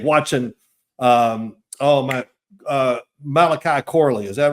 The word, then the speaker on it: Malachi Corley: it was like watching um oh my uh Malachi Corley is that right did I say his name